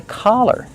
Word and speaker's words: collar: Make the open a sound. C. Collar. Collar. This is a collar. Different from color. The color is brown. When I say color, I use the short uh sound like cup and up.